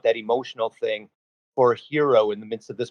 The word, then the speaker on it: Hiro: teen hero which is spelled h o but pronounced hero a genetically augmented human who is bouncing around